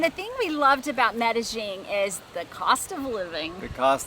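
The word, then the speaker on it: Medellín: was to medellin colombia some people call it medeling or meddling that it's really it's messy the locals say get that gene in there and the thing we loved about medellin is the cost of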